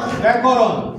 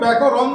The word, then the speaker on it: ব্যাকরণ: বাংলা ব্যাকরণ। ঠিক করে বলো, বাংলা ব্যাকরণ। বাংলা ব্যাকরণ। কিন্তু আমরা উচ্চারণ করি কি? বাংলা ব্যাকরণ কি ন উচ্চারণ আমরা সাধারণভাবে করি না, আমরা ন উচ্চারণ করি।